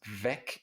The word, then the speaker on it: weg: vig like a name of our series it's pronounced vec and it means gone abba das en est